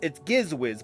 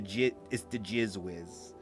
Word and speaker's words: Gizwiz: always likes to say, sometimes it could be pronounced something different. So luckily, you know, it's Gizwiz, but if you really look at it, it's a G-I-Z, so it's the Gizwiz.